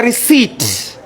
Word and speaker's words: receipt: It's a receipt. What is silent? P is silent.